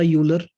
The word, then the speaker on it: Euler: अब यहाँ पर एक मैथमेटिशियन आया, उसका नाम था यूलर। कई जगह इसको आयलर भी प्रोनाउंस किया जाता है, आपको जैसे अच्छा लगता है वैसे बोल देना, ठीक है।